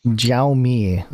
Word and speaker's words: Xiaomi: Xiaomi.